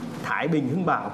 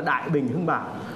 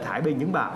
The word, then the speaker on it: Thái Bình Hưng Bảo: Tức là Đinh thì nó có là Thái Bình Hưng Bảo, có người thì đọc là Đại Bình Hưng Bảo. Thế nhưng mà đây là Thái Bình Hưng Bảo, thì ở đằng sau